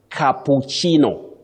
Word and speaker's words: cappuccino: I would also share with them, we say cappuccino. Cappuccino. This is a word from Italian, and it refers to